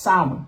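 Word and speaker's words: Samhain: spelled saman saman right here but it's actually pronounced sin right when it was believed that the ghost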